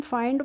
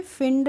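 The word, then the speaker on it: find: भी हम पढ़ लेंगे फाइंड इसको हम फाइंड पढ़ेंगे फंड नहीं पढ़ेंगे ओके तो इसको पढ़ते हैं हम फाइंड सी एच आई एलडी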